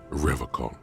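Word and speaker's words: Revachol: logs at his feet he pronounces rivercon with a hard K unlike other people do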